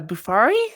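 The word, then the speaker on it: Bofuri: me into well how about uh buffalo uh bufari is how you say it uh i didn't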